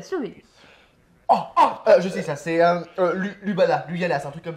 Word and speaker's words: Ljubljana: Alors, ça se prononce Ljubljana.